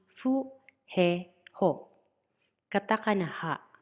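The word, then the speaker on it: フ: Katakana fu, pronounce as fu. Fu. Fu. Remember, it is not hu, even if it belongs to H group.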